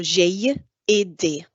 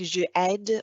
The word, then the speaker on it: j'ai aidé: Make sure you pronounce the accent on the E. So j'ai aidé. If you say anything like je aide or anything like that, which sounds like the present tense, then they wouldn't accept your answer.